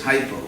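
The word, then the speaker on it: hypo: German in English it's Hyo h y p o huho yeah yo is just Sanskrit OA same word because in Greek the H was silent so it's actually OA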